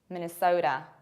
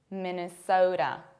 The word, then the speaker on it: Minnesota: It is not Minnesota. It's not Ota. It's never Ota. It is Minnesota. Minnesota. Minnesota. You have to round O and you have to pronounce a very strong American T, which is something in between D and R.